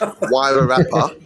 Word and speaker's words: Wairarapa: Oh, I probably don't even pronounce it right. It's Wairarapa.